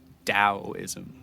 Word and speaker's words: Taoism: this, you'll know that they will pedantically insist that it is pronounced Taoism with the D, despite being spelled with a T, of course.